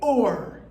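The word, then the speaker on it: אור: The aleph is silent, followed by the vav with the dot over its head, making an O sound, followed by the resh.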